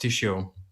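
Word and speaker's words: Jieshuo: its original chinese name it's spelled j-e-s-h-u-u-o but it's a pronounced tissue so i'd like to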